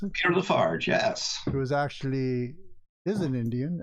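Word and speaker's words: Peter La Farge: Is that how you pronounce it? Peter Lafarge, yes.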